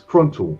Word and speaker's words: Kruntel: It's Kruntel, pronounced with an untel.